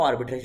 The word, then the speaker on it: arbitrage: So this is हाउ आर्बिट्रेज works, या आर्बिट्राज, जो भी आप कहना चाहो, because both are correct pronunciations of the same word.